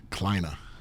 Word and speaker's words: Kleine: That's a German name. You know how it's pronounced? How? Kleine.